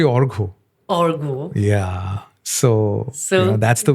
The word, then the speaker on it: Argha: heart, my dear friend, Argo. Yes. Hi, Aarti. I honestly pronounce. We have a issue because the pronunciation of my name is very, very, issue based. Yeah. It's actually Orgo.